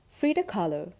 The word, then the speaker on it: Frida Kahlo: me dressing up like frida kahlo rhymes with follow frida kahlo is from mexico she